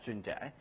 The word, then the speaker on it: Junjie: My first name, Junjie, is like the 6 months of the year, June. For the another part, is like Jack without K. So my name is pronounced as Junjie.